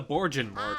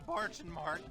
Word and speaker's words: Bargain Mart: I just realized he mispronounces the place's name. He calls it the Borgin Mart. Hi. Welcome to the Bargain Mart. Yeah, it's Yeah, it's bargain. supposed to be Bargain Mart.